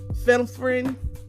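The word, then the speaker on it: phenylephrine: l e p h r i n e fenine finefine I don't know finel finel finel FR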